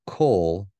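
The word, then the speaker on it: כל: But that's why they say kol with an O when they're pronouncing that.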